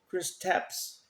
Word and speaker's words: Kristaps: We got how do you pronounce his first name? Kristaps Porzingis.